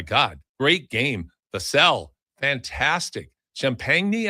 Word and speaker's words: Champagnie: Champagnie, I think, is how they pronounce it. And uh you know, I I always wonder if it's just going to go with champagne, but they don't.